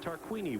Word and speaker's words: Tarquini: next to Gabrielle tarquini that's right tarquini we've been mispronouncing his name all year that Italian driving for